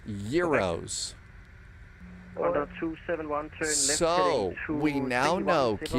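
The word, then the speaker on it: gyros: Firstian 01 contact Polaris 121 decimal 51 straight from the uh waiter it's pronounced euros 271 we now know says it if you're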